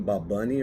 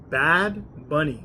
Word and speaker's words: Bad Bunny: They were saying Bob Bunny or Bob Bob Bunny or I think it's Bad Bunny.